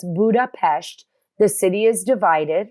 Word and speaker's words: Budapest: I got it oh and I said Budapest that's how they say it here the Danube River and